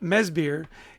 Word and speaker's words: Madsbjerg: he's Danish and so even though it's uh mesir it's spelled m a d s b j e r g so don't try to sound it out that won't help you no not close yet